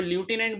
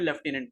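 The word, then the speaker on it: lieutenant: बार pronounce करते हो, तो ल्यूटेनेंट बोल सकते हो या फिर लेफ्टिनेंट बोल सकते हो।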